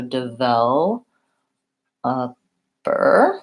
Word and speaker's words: developer: of developer and so the word developer has second syllable stress which means the sound vowel should be longer and the first and last syllable should be shorter so DeVoe bur there's actually 4 syllables